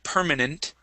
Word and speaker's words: permanent: Um, let's go to the word permanent. Okay, permanent. Instead of nent with a short e, we use a uh short i sound.